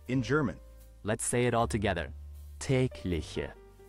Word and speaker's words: Tägliche: or intreing so let's dive into today Word tlich which means daily in GER let it all tlich tlich tlich one more time tlich tglich tglich ageation EXP